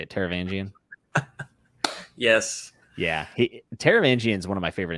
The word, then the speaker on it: Taravangian: do you say it taravangian yes yeah he taravangian is one of my favorite antagonists of all